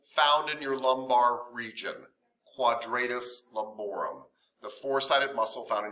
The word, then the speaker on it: quadratus lumborum: Well, kind of think of it. Yeah, quadratus. Think of it in Spanish.